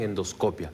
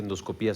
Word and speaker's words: endoscopía: Es decir, la famosa endoscopía. Algunos le pronuncian endoscopia, pero aquí parecería ser que endoscopía suena lo más común.